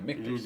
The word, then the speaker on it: Michter's: Yeah, Michter's. Yeah, that's how you pronounce it.